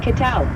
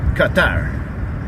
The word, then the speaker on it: qué tal: ¿Qué tal? It's a common way to ask what's up, or how's it going, in Spanish. Give it a try. Qatar. Qatar. Qatar. Almost. It's ¿qué tal? With a Q sound.